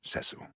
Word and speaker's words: Cecil: cecil if i may it's pronounced cecil damn it but again how would